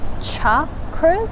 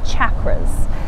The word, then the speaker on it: chakra: chakras can be pronounced a few different ways they can be pronounced as cha cruz or some people say chakras and it really doesn't matter which way you say it i think it's just